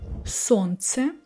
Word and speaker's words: солнце: Also, I can say солнце. Here I'm skipping l.